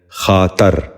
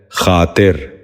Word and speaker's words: خاطر: خارش۔ چوتھا لفظ ہے خاطر۔ یہ غلط تلفظ ہے، درست تلفظ ہے خاطر۔ دوبارہ غور سے سنیے،